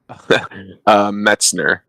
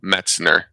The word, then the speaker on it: Metzner: Metzner. So it's like the New York Mets and then just Ner. So Metzner.